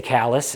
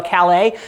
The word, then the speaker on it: Calais: that we pronounce kallus it's spelled like Calais you know in France but they say callus and if you say hey can you give me directions from to uh Calais they'll be like we